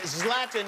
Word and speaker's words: Zlatan: the stubhub center you want to see zlatan zlatan is the correct pronunciation yes love them thank you very much